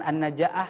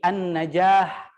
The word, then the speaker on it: an-Najah: kedua ada Alquran an-najah ini dibacanya bukan an-najaah ya tapi an-najah apa itu artinya an-najah